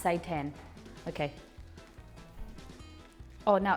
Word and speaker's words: seitan: i don't understand okay say tan i think it's pronounced say 10 okay oh now it's